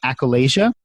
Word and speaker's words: achalasia: a little bit about that I think it's pronounced achalasia yeah that's right no no listen I have